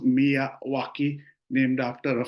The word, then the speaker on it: Miyawaki: fabulous webinar last month on mwaki Forest it's pronounced mwaki named after a f botanist Akira mwaki of